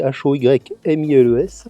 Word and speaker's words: Hoymiles: Ça m'a été envoyé par la marque Homiles. Alors ça s'écrit Hoymiles.